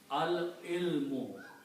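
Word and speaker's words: العلم: And what al does, it removes one dhamma from here. So it becomes al ilmu. Because that's the rule of making it definite that two dhammas change into one dhamma.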